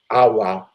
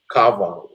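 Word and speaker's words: 'awa: on the top AWA so the W it sounds like a V but it's like uh so it's not AWA it's right cover it's with a V sounds really but it's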